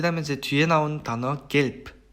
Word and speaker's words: gelb: 그 다음에 이제 뒤에 나온 단어 gelb 같은 경우에는 be가 단어의 맨 마지막에 오면서 프 발음으로 변했죠. 그래서 이거는 뜻은 이제 노란색이라는 뜻의 형용사죠.